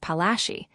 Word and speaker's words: Palashi: Placi is an anglicized pronunciation of Palashi.